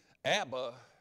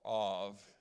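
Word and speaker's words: אב: Abba is an Aramaic word. If you took the first two letters ab, or av, as it would be properly pronounced, that's an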